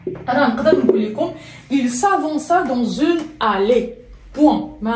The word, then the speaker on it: s'avança: غنستعمل لو باسي سامبل، غنقول لك il s'avança. Il s'avança. وهنا ما نساوش ديروا لا سي دي باش ما نطقوش il s'avança.